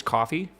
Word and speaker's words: Ko-fi: Yeah, it's pronounced coffee, if that wasn't clear though. I'm going to keep saying Ko-Fi though.